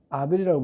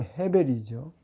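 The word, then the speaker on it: הֶבֶל: 우리는 아벨이라고 부르는데 원문은 발음은 헤벨이죠.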